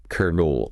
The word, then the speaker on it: colonel: Colonel. Right. It looks like colon, maybe? Yeah. But the pronunciation is shakir NL, kernul. Kernel. Exactly like kernel, as in a popcorn kernel.